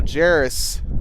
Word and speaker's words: Jarus: His name's Jarus. Jarus. Okay. Like Jyus, but it's Sorry about that. So Jarus Williams is the pronunciation there. We'll have that correct for Gillette.